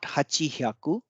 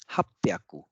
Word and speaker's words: happyaku: And you might remember that 800 was, it was not hachihyaku, it was happyaku.